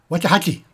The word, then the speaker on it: Waxahatchee: Waxahatchee.